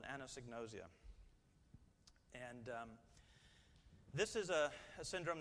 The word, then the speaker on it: anosognosia: Anosognosia.